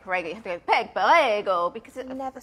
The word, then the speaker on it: Peg Perego: Kaz Hill says she's not heard of Peg Perego, but she's very interested.